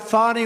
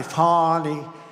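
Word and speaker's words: Fani: it fonny it's called Fanny you have to pronounce fny I don't know how she get she should add a little u in there someplace if she wants people to call her no her and her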